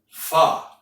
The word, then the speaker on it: pho: How many of you are familiar with the wonderful Vietnamese soup called pho? It's spelled P-H-O, but it's pronounced F-U-H.